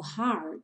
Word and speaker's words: heart: Por questão de métrica aí, o heart juntou com and. E aí o T do heart ganhou aquele som rarara.